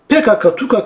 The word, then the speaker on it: PKK: bu hdp'yi pkk'den burada PKK'nin doğru okunuşu PKK arkadaşlar Türkçede harfler sonra e konular okunuyor bir tek kelime Almanca he he okunuyor hani biz de Kural koymuş harfin sonu e gelecek PKK demek için kurallarımızı bile değiştiriyoruz Hani bunu Peki ise